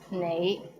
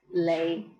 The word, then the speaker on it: 你: The right way to pronounce it is nei, but in Hong Kong, many people pronounce it as lei.